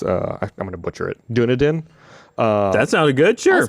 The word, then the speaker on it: Dunedin: I'm excited to see what he creates, and apparently he's the town he's in New Zealand is I'm going to butcher it, Dunedin.